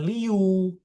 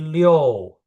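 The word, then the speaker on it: liù: Perhatiin ya dia pakai I sama U. Tengah-tengahnya ada O. Jadi bacanya bukan Liu tapi Leo ya.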